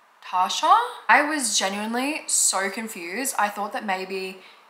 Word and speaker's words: Tarsha: It's literally just Tasha.